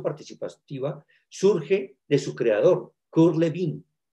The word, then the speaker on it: Kurt Lewin: La investigación acción participativa surge de su creador, Kurt Lewin. Aquí lo pronunciamos Kurt Lewin, pero él es de origen alemán. Se pronuncia Kurt Lewin, como Ludwig van Beethoven, recuerdo.